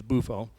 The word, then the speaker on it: Buffo: is my grandfather Dominic buffo or buffo it doesn't matter the Italian pronunciation is buffo uh my grandfather was